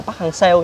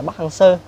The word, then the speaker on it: Park Hang-seo: Việt Nam mình phát âm từ đó là Park Hang-seo, nhưng mà thực ra nó phải là Park Hang-seo.